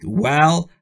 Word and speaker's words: well: پایین رو میگذه و در حالتی که میخواید بگید well باید لبهای شما به حالت بوسه و هوا خارج میشه.